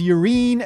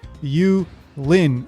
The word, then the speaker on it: Yulin: Instead of localizing the name as Yurin and writing it Y-U-R-I-N, I think they should have gone with Yulin, and the spelling for that would be Y-U-L-I-N. Now, whether you place the accent on the U or the Lin doesn't really matter to me. The important thing here is that we didn't use an R in the spelling. We used an L.